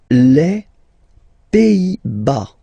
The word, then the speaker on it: Pays-Bas: Les Pays-Bas. Final S here, not pronounced. Same thing here. Pays, pays, and then bas. Les Pays-Bas. Okay?